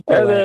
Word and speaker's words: Pillen: It's Pillan. And then, it's Pillan. I don't know.